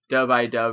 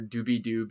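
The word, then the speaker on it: Dub-I-Dub: song on the record, Dub I Dub or Doobie Doob is how it's pronounced in the song, is literally just like Scatman core.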